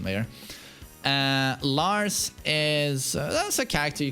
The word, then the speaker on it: Lars: we ha we have his son from sweden los alexander with correct pronunciation there uh lars is that's a character